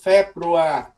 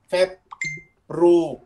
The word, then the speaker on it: Februar: Rồi tới chữ februa, feb nó gần giống như có chữ bờ, mình mặc bậm cái môi lại cái februa à nha, februa.